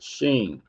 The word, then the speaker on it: Shin: Under phonetics, the 21st letter of the Hebrew alphabet, called Shin, pronounced Sheen, and has the sound sh, sh.